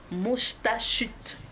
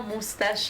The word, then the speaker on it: Moustachut: Également sur ce plateau, le Moustachut. Voilà, c'est un nom d'artiste. C'est pas moustache, hein, c'est Moustachut.